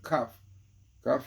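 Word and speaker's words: כף: Since the letter kaf, which pronounces kaf in Hebrew, which is the word of vessel, kaf.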